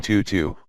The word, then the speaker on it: Tutu: bore the chirping bird name tutu with the vowel pronounced as in French her entire forehead was